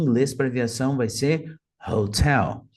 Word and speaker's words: Hotel: para Viação vai ser Hotel notem que eles colocaram a sílaba tônica como a segunda então de maneira ideal isso aqui seria pronunciado taxi vai a Fox go Alpha Hotel Hot então a sílaba